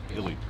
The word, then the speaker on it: Illy: Or pronounced Illy? Illy.